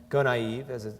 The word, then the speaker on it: Gonaïves: The only time I'd seen this person was in the same city in 2004, when Gonaïves, that's how you pronounce it, was hit by Tropical Storm Jean.